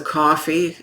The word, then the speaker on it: Ko-fi: By all means, send us a coffee. Coffee is spelled Ko-Fi.